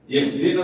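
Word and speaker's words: اهدنا: ഇഹ്ദിന സിറാത്തൽ മുസ്തഖീം എന്നതിലെ ഹാ ഇഹ്ദിന, ആ ഹാഇന്റെ ഉച്ചാരണം വളരെ വ്യക്തമാക്കണം.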